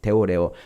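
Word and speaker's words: θεωρέω: 거기에 쓰인 단어 그때 보다라는 단어는 어 데오라 이렇게 발음해요 데오레 그러니까 블레포 아는 말하고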